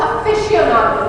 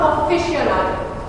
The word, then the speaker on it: aficionado: Auto aficionado, not aficionado. It's not an O sound, right?